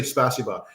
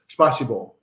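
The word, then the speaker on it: спасибо: a certain way like you can't just say spasiba has to be like spasibo or spba no people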